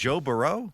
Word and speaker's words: Burrow: Is that the Louisiana pronunciation? That's the Louisiana pronunciation. Joe Burrow.